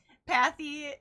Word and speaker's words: Pathy: Pathy, as in walking on a path.